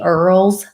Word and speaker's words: Earls: of NFTs called the Earls. It looks like oils, but it's pronounced Earls.